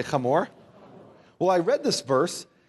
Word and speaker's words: Hamor: Now, in the English, you'll see Shechem and Hamor, but it's pronounced Shechem, say Shechem, and Hamor, say Hamor.